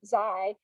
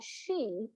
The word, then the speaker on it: Xi: don't know we would we pronounce it like the beginning of xylophone zai uh but in chinese they pronounce that she and that's a very common surname in china uh the prime minister